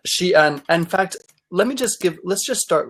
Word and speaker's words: Xi'an: But strangely enough, Xi'an is the same exact pronunciation of the city Zion.